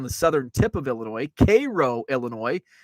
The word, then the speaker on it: Cairo: southern tip of Illinois Cairo Illinois it's pronounced like the syrup Cairo but it's spelled the